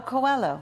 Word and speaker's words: Coelho: Now, I will not try at all with my French to pronounce this guy's name. Get your glasses on. Tell me. How do you Paulo know? Coelho.